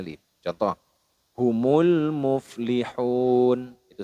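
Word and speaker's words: مفلحون: Yaitu nun hidupnya ini yang awalnya fathah diganti dengan sukun atau disukunkan. Muflihun. Nah, seperti itu.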